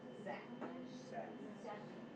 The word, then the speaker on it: Zach: So the CH in this word makes a k sound. Zach.